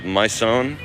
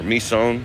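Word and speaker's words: Mỹ Sơn: You know, there's a there's a place uh near here called Myon uh or Mison depending on how you say it, which is an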